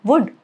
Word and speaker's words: would: It's not would or could or should. It's could, should, would, okay?